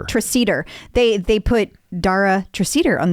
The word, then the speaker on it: Treseder: Treseder.